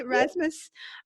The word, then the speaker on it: Rasmus: Rasmus I guess I should check on the pronunciation of your last name is I haven't say Rasmus alright no he he's here with us from